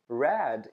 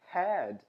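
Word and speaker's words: red: né Habit Rabbit Habit Rad que significa vermelho em inglês Às vezes a gente pronuncia como had que significa cabeça e por último pronunciar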